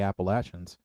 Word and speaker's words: Appalachians: get it, because coming from the foothills of the Appalachians, which is the correct way to pronounce it for anybody out there.